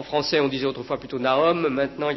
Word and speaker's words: Nahum: Donc, vous avez Nahum, si on prononce à la manière hébraïque. Alors, en français, on disait autrefois plutôt Nahum.